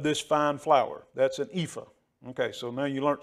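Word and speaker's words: ephah: tenth ephra and a efra uh one ten of an efra and I know I'm saying that wrong of fine flour an epha epha that's the way it's supposed to be pronounced she's been schooling me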